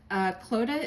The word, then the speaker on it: Clodagh: Their names are Clodagh and Todd. Clodagh is pronounced like Coda, but with an L, and it is an Irish name because my wife, Emma, is from Dublin, Ireland.